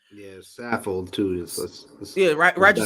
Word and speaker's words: Saffold: Yeah, Saffold too. Roger Scaffold. Yeah, I said Roger Scaffold. Saffold. Oh, Roger Scaffold. Scaffold. Saffold. No C in there.